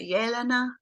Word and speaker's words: Yelena: And you say Elena, is that correct? Yeah, I think it's the way you pronounce it, Yelena. I believe that Russians would say Yelena.